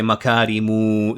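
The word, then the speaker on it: مكارمُ: So, you extend it, you pull it, you say makarimu. That's how it's supposed to be pronounced as you pull it uh towards the uh to towards the end.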